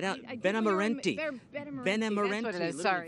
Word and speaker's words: Benemerenti: Benemerenti.